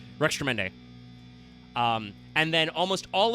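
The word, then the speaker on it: Rextremende: I think I've heard some people say Rexrude or something before. No, it's it's Rex Tremend. It's just they took out the space. So, it's Rex Tremend.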